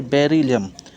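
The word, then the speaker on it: Beryllium: उसके बाद चौथे नंबर पर जो आता है उसको बेरिलियम। प्रोनाउंसिएशन, पुकारने का आवाज़ क्या है? बेरिलियम।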